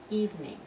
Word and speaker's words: evening: study in the evening only two syllables evening and my favorite kimono